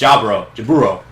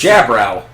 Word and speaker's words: Jaburo: One of my favorites being Jaburo. It's Jaburo. It's in English. It's Jabrow. Jabrow.